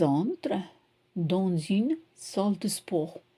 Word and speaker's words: sport: So you don't pronounce the T, salle de sport.